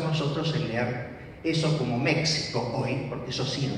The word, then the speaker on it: México: El caso de México. México es una palabra náhuatl. Va a ser incorporada al castellano con la pronunciación correspondiente al sonido que tenía en náhuatl, que era palatal sordo.